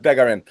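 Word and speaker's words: Bégarin: But is it Begarin? Yep. That's where we're going with Begarin.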